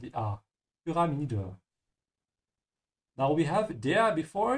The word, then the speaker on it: Pyramide: Again, remember the Y is pronounced like you, dan umlaut like a soft, dann umlaut say pyra. Ja. And open your mouth and die pyramide.